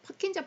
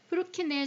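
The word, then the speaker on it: Purkinje: 퍼킨 저 파이라고 배웠어요 프로키의 섬유라고 부르는 것이 맞습니다 왜냐하면이 사람은 러시아 사람이래요 그래서 킨저 파이버 이거는 영국 영국이나 미국식 영어 발음에서 나온 거고요 이제 그 올래 그 러시아에서 예라는 이걸 많이 쓰잖아요 그래서 프로키의 섬유라고 부르니까 그 사람 이름을 정확하게 부르는 거래요 그 사람 이름 땄으니까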